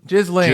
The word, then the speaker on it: Ghislaine: Or Gisane? Ghislaine? Ghislaine.